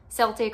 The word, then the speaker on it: Celtic: something that comes from Celtic or Celtic however you pronounce that I've heard it pronounced both ways so I think it just depends on where you live but from that mythology